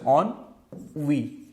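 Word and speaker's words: ennui: Next word हमारे पास क्या है कि ऑनवी, ठीक है, इसको प्रोनाउंसिएशन करने का तरीका कि ऑन, ओके, एक तरह से ऑन वी, ठीक है, इसका प्रोनाउंसिएशन ऐसे होता है ऑन वी, ओके।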